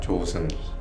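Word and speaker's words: 조승희: Cara baca Korea yang benar adalah Jo Seung-hee.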